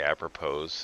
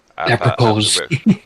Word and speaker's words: Apropos: name trying to say Apropos or... Apropos. Yeah, well, honestly, until somebody corrected me, I thought that's how it was said too, but as an actual English language word, the S is silent.